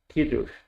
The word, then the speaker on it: Kiddush: Kiddush. You know, some of these, the emphasis is on the first vowel, Kiddush, which is the more precise way.